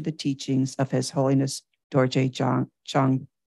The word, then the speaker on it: Dorje Chang: teachings of His Holiness Dorje Chang. Is it Cheng or Chang? Dorje Chang, Buddha.